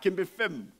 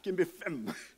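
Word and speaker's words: kenbe fèm: Ah, kembe fem. Hein? Je trouve qu'il y a plus de punch là, kembe fem. Là, on enlève le R de ferme, on dit fem.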